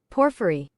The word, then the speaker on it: Porphyry: Let me just see how to how to pronounce Porphyry. Oh. Porphyry.